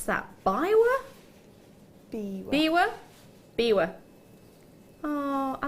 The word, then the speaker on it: biwa: How do you pronounce that? Biwa? Biwa.